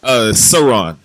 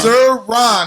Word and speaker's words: Cerrone: Cerrone. It's Cerrone. That's how you pronounce it. Cerrone. Sir Ron.